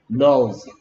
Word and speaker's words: nose: 끝에 소리 안 나는 E가 얘한테 찾아가서 네 이름 뭐냐고 물어봤더니 내 이름은 뭐다? O다. Nose. 오케이.